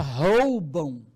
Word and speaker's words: roubam: Olha a pronúncia, roubam.